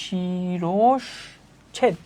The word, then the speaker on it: শিরচ্ছেদ: হবে আমার আসার উনষঠান নির শিরচ্ছেদ শব্দের সঠিক উচ্চারণ কোনটি বলতো আবার আমরা যদি দেখি আমাদের বইয়ে শিরচ্ছেদ শব্দের সঠিক উচ্চারণ শিরচ্ছেদ শিরচ্ছেদ এইযে শিরচ্ছেদ হচ্ছে কি শিরস ছেদ শিরসছেদ তাহলে কোনটা হবে এখানে এখানে হচ্ছে আমার শিরসছেদ এই উচ্চারণগুলার ব্যাপারে একটু কেয়ারফুল থাকবা ভাইয়া।